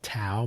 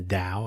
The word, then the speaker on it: Tao: Some people pronounce it Tao, but it's the Tao of Steve.